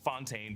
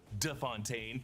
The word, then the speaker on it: de Fontaine: Val corrects Congressman Gary on the pronunciation of her name. It's not Fontaine, but De Fontaine and mentions the Secretary of Defense as Anderson.